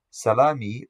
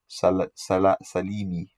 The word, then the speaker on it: Salimi: Most of the scholars of Hadith pronounce it Salimi.